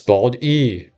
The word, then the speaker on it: Bald E: Eventually, he settled on Bald E because it's pronounced almost exactly like Baldi and it has the letter E, which is his favorite letter.